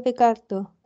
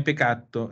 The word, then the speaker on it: peccato: Bene, ma occhio sempre alle doppie, eh? Non è peccato, è peccato. Che peccato. Peccato, ricordate che con la doppia C è dura, facciamo una pausa. Peccato.